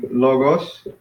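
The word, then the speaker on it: λόγος: Another one would be logos. So the accent is on the first syllable.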